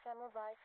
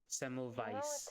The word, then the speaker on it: Semmelweis: Semmelweis. Weiss V. W is pronounced as V in German.